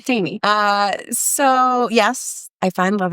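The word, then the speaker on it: Tainy: It's Un Dia by J Balvin, Dua Lipa, Bad Bunny, and Tiny? Sorry. Tiny, my bad. I said it wrong. Tiny.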